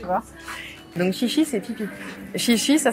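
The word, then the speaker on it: xixi: parle quoi tu vois donc chichi c'est pipi chichi ça s'écrit XI XI et c'est pipi petit café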